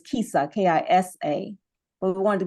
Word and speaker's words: KISA: The actual word is KISA, K-I-S-A.